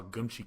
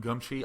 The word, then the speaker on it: Geumchi: By the way, I'm calling him Geumchi. I hope to God you guys say it like that, because I'm just going to keep pronouncing it that way.